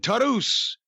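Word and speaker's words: Taurus: the fucking Lucha Brothers and Laredo Kid and Tarus. And you can't call, that's the way you pronounce it.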